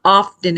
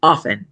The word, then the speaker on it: often: say often it's not often it's often you don't pronounce the T so it's my little